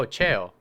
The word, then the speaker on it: Cheo: Oh, cheo, got it. Oh, that's Kingpin's nickname, cheo, not Chio.